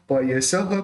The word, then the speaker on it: पयसः: कल्पांत वांत पयसः, ये जो विसर्ग है उसका ह होगा। पयसः प्रकटोपि यस्मा मीयेत, कल्पांत वांत पयसः प्रकटोपि यस्मा, है ना।